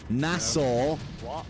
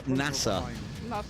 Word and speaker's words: Nassau: For next week Wednesday, we have 5 copies of the Pirate Republic of Nassau to give away. Nassau. Nassau, Nassau, NASA. I've heard NASA as well. Doesn't even pronounce the U.